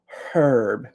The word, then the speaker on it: herb: um or as British people say herb because they pronounce the H. In American English, we do not pronounce the H in herb. So time is an herb.